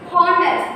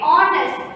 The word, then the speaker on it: honest: sound though it's a consonant by when we pronounce it on us we should not use harness we should have stayed honest which has to be awesome so ah instead